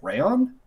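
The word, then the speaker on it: Raon: apologize uh i believe her first name is pronounced like rayon it's like r-a-o-n and then her last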